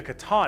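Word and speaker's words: C'tan: These Star Gods, Catan, that's how you pronounce it. Ones, almost not C10.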